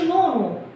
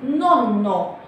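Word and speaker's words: nonno: فلما يجي أي حرفين ورا بعض لازم نسترس عليهم في النطق، ما نقولش نونو، لا نقول نونو، كأن عليهم شدة كده زي العربي، تمام؟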